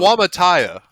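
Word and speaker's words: Suamataia: Swamataya. That's how you pronounce it. Wamataya.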